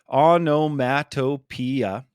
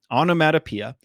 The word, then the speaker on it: onomatopoeia: of a tongue twister there's six syllables there onomatopoeia onomatopoeia and one way i